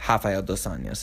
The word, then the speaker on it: Rafael dos Anjos: Rafael dos Anjos is actually how you pronounce it. They do them R's as H's in Brazil.